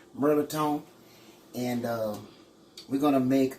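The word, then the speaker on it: mirliton: melatonin it ain't even spelled that way it's pronounced merlitone and uh we're gonna make a dressing with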